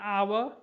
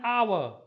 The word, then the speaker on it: hour: as for example an hour and mla an x-ray an l plate an honest man c an hour here h is silent and honest here h